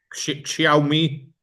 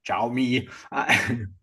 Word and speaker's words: Xiaomi: Xiaomi, how do you pronounce that one, Arnold? Xiaomi. Xiaomi.